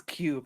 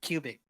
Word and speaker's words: Cube: Yeah, it's Cube, not Cubic. I made that mistake for like 2 years. Yeah. By pronouncing it Cubic.